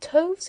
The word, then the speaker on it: toves: The I in Sliffy is long as in writhe, and Toves is pronounced so as to rhyme with groves.